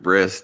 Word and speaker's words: bris: I'm sorry, they actually pronounce it bris, don't they?